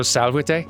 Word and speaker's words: salvete: correct yeah but you you pronounced the v's with like kind of a w oh so Sal Day yeah cool and that